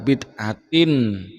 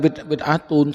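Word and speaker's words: بدعة: Wa kullu bid'atin. Bukanlah bid'atun, salah. Itu namanya Ustaz goblok.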